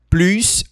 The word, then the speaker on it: plus: Faça atenção, porque esse plus a gente não puxa esse s. Plus, a gente não fala assim, plus é plu. Plus. Como estamos vendo uma frase negativa, então a gente não pronuncia esse s.